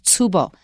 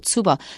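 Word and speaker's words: tsubo: word ping comes from Japanese and the Japanese pronunciation of ping is tubo TS u b o tubo so if you want to avoid Chinese you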